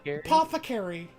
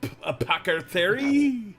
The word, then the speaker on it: apothecary: and heals people in apoca apostary i can never say that i can never say that word what's that word apothecary the apothecary i know how to say it but like every time i read it like my brain go a packer theory and i'm gonna help